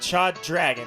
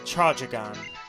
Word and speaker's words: Chadragon: It's not Chad Dragon, it's Chadragon. Chadragon.